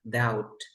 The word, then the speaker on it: doubt: um that and then when we have the BT like this then we have debt we don't pronounce the b sound here doubt out you never pronounced